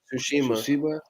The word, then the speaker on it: Tsushima: Ghost of Tsushima. Tsushima.